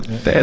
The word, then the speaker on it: 사드: 뭐 미국 방송을 보면은 사드라고 네. 발음을 하대요. 맞나요, 소장님? 번데기 발음으로 사드라고 네.